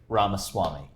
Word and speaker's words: Ramaswamy: or something else it's the fake like cake Rama Swami yeah thanks for asking I dig it well